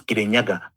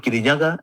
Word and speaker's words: Kirinyaga: 1920 we were called Kenya and it's just because the Mugu could not pronounce Kirinyaga. He saw the mountain heard is being called Kiryaga and then he called it Kenya.